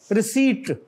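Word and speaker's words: receipt: रिसीट, पी is silent.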